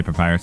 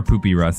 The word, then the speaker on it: Papyrus: I meant Papyrus also I do know how to say Papyrus I was just saying it wrong because it was funny and then it made you guys get mad so Pap or poopy Russ as I called him